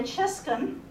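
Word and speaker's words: Czyszczon: Her name's Chiscon. I will tell you that is spelled C-Z-Y-S-Z-C-Z-O-N, just because, it's got a really easy pronunciation and a really tough spelling.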